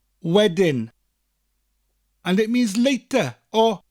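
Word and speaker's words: wedyn: now another word is weding wedding which sounds like the english word wedding as in a wedding that we celebrate with the bride and groom but it's spelt differently w-e-d-y-n wedding and it means later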